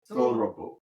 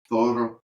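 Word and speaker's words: Þorrablót: Thorrablot. Oh, okay. Roll your R too. Thorrablot. I always forget that you roll your R's in Northern European.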